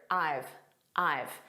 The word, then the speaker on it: I've: This is a contraction of I have. So we say it as one word, I've. And it's a very unstressed pronunciation.